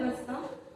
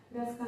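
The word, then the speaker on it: Ruska: रखिएगा बेटा इंपोर्टेंट है नॉल एंड रस्ता नॉल एंड रसका नहीं की के साइलेंट याद रखिए बेटा तो आप दिमाग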